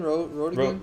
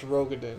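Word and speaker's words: Roegadyn: No, it's Rogadin. Because I remember. I said it wrong. Rodigan I said it sounds- wrong for like a year. Yeah, you said it the way that sounds better, but it's not correct.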